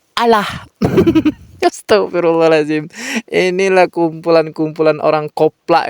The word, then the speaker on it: Allah: berubah jadi allahah sahabat tulisannya adalah a l l a h Tapi bacanya jadi alah Astagfirullahalazim inilah kumpulan-kumpulan orang